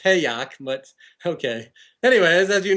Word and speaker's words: Hayek: Oh, I think it's pronounced Hayek, but okay.